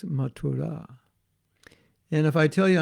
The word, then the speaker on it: Mathura: goes by the same name that's how it's pronounced not mathura so i'm going to mathura hey prabhu there's no place called mathura mathura it's matura and if i tell you i'm going to